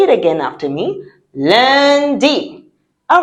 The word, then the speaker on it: lundi: Lundi. All right. So now let's see how it's written. Lundi. Yes. It's not lundi. It is lundi. Because in French, UN sounds un.